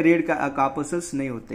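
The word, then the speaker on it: corpuscles: which blood lakhs red कार्पसल्स, ठीक है, इसका प्रोनाउंसिएशन कार्पसल्स होता है प्रोनाउंसिएशन, ठीक है, यानी वहाँ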